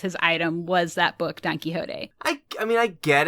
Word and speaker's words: Don Quixote: yeah quit smoking and to read a book don quixote yeah is that how you say it yeah